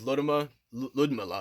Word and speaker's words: Ludmilla: I had like a side note when I was with Ludmilla is actually how you say it.